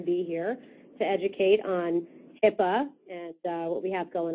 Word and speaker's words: HIPAA: Portability and Accountability Act, and it is HIPAA. A lot of people spell it like they think it sounds, and they say HIPPA, and you will certainly